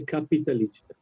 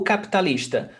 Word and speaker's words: capitalista: I noticed that you don't pronounce sometimes the I, like capitalista. You don't say capitalista. O capitalista. Actually, we do. It's very rare. Every syllable in Portuguese has a foundation on vowel sound.